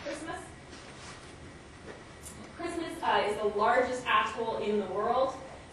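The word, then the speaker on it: Kiritimati: And then just to orient you to the pronunciation, this is the Gilbertese pronunciation where your T's become S's, so it's Kiribati and Christmas.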